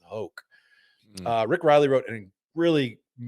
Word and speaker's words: Hoch: The ancient and honorable Varden Trophy is in danger of becoming a joke, Thomas Boswell wrote in Golf Magazine, and that rhymes with Hoch.